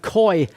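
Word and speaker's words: Koy: Famous life in Bentley circles, known as Coy 300. That's Coy spelt with a K.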